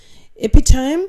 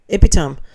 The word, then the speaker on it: epitome: Epitome is pronounced epitome. Oh, well, not here it isn't. Not in Australia it isn't, love. Stress on the second syllable.